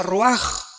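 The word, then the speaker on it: רוח: Raúl a c h se pronuncia raj por ejemplo cuando hablamos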